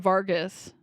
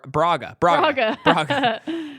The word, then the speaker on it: Braga: take down this Kingpin Vargas I did not pronounce that correctly what is his name Baga or Raga it's it's uh uh uh Braga so yeah he's like